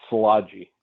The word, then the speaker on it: Szilagyi: butcher that thing up it is pronounced solaji okay and like i